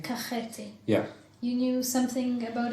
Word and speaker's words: Kakheti: How do I pronounce it? Kakheti? Kakheti.